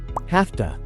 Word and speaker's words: have to: end of the day notice that in spoken English have to is usually pronounced in its weak form as have to have to have to